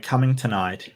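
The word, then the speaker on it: Cummingtonite: So, if you don't know, Coming Tonight is the most hilarious rock you'll ever see, and it is literally that's how it's pronounced.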